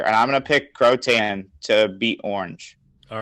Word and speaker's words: Croatan: Yeah, Croatan.